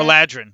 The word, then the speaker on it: Eladrin: There we Eladrin? Is that how you say it, Jack? Eladrin, yep.